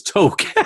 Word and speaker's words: toque: The toque, oh yeah, that's pronounced as toque.